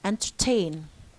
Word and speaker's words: entertain: Entertain. Here, enter. What's the stress syllable here? Tain. And enter here is the receiving is secondary stress.